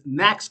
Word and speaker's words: NAICS: going to get intool in Government Contracting is KNX code KNX code is short and I'm going to spell that out so you guys understand what it